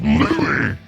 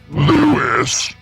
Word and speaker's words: Lou: the character's name properly it's Lou not Louis again we return to